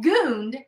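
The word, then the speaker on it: Gund: thinks about it um she fights with herself on how to say gunned well she said gooned and i'm like oh my gosh i've been saying it wrong all this time so she said she's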